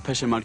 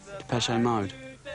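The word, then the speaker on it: Depeche Mode: depes mod is just a word for fashion in French PES mode and we just decided we like the sound of that name and we chopped off the accent and we just kept the pronunciation the pese mode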